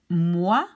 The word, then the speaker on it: moi: So OI or OY are pronounced like wa. It's moi, toi, roi, royal.